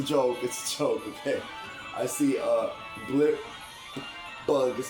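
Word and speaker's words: Blipbug: Oh, I said it wrong. Blip bug. See, I thought it was Blit Plug. Like a plug and a bug put together.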